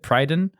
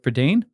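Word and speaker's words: Prydain: read his pradane Chronicles I hope I said that right for Dane I think when I was it was a reading word for me growing up no one taught me how to say it and I said prydon but that obviously sounds dumb so I'd go with perdain and there's anyway that's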